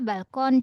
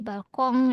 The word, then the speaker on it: Balkon: yang tadi kan masih apa balkon jadi balkong ya balkong iya Prancis ya itu Prof. Iya betul. Diserap dari bahasa Prancis.